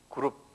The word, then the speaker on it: 그룹: 그룹. 요걸 영어로는 뭐냐면 세라핌 그래, 체룹 그래, 체룹, 체루빔. 체루빔이란 말 들었죠? 예. 근데 한국말로는 그룹이라고 됐어요. 본래 원어도 그룹이라고 이렇게 발음이 돼요.